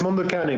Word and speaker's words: Mondo Cane: Okay, and I've seen it, but I've been pronouncing it incorrectly the entire time. Well, it's Mondo Cane, but okay. For example, in French, when somebody asks me what's the name of my project, I say Mondo Cane, basically.